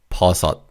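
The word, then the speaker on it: 버섯: The sh pim in the second syllable is pronounced as like a t sound. So it's parat parat.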